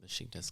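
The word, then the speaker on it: Beşiktaş: nice pronunciation with the sh in Besiktas.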